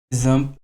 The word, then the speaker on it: XAMPP: Et pour installer notre serveur local, nous allons utiliser un logiciel qui s'appelle Zamp et qui s'écrit X MPP.